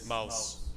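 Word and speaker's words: Maus: It's spelled M-A-U-S. Oh, mouse.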